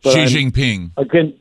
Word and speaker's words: Xi Jinping: how that was used now how do you pronounce the premier chairman of china's name i'm not a racist xi jinping there you go right i'm against all stupidity